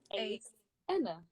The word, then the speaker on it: Ase.Ena: So like Ace of Spades. Ace. Enna. Ace Enna.